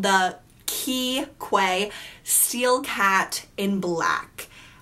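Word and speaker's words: Quay: the by the brand i want to say quite but it's pronounced key and they're from Australia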